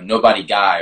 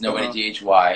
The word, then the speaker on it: Nobodyghy: a lot because one a lot of people mispronounce it wrong they go you know nobody guy or something like that right so i've learned